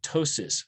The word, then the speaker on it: ptosis: spell it and also ptosis ptosis means droop right and uh pt ptosis see we don't really say the p they don't say ptosis